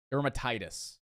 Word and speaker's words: dermatitis: a good Trader dermatitis I know it's not Derma what what was it I'm gonna say it right this time okay I'm gonna say it right dermatitis a dermatitis Catherine topic